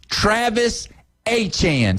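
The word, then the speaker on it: Etienne: He said, "I get to finally go back to Louisiana and be called by my real name, Travis Achan."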